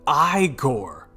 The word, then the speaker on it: Igor: into his partner's chest it's pronounced i gore the old man says